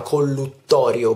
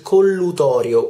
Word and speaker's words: collutorio: per fare gli sciacqui non si chiama collutorio bensì collutorio una sola t c'è una sola t anche ascoltando le pubblicità o semplicemente prendendo un flacone una bottiglietta si può leggere che collutorio e non collutorio con